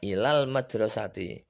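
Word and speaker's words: إلى المدرسة: maka penulisan ilal madrasati bacanya ilal madrasati ila berdiri sendiri almadrosati berdiri sendiri dalam bacaannya alis minyak al tidak terbaca tapi dalam penulisannya tetap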